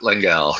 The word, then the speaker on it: Lengal: name all morning long no you've pronounced it perfectly well done how did I pronounce it you said LEL langel okay I just wanted